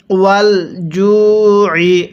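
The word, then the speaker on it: وَالْجُوعِ: মিনাল খাউফি, এরপরে ওয়াল জুই, পড়ুন আমার সাথে, ওয়াল জুই। আইনটা পড়ার সময় গলার মধ্যে একটু চাপ দিয়ে পড়বেন, তাহলে আইনটা সহি শুদ্ধ উচ্চারণ হবে।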